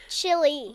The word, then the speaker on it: Chile: what it sounds like does it sound like the chili pepper yes No Chile Chile but it's spelled a little bit differently it's but with ch il not with an eye on the end yeah so anyway so